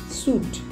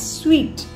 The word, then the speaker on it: suite: Second mispronounced word, S-U-I-T-E, suit. It's not suit, it's sweet.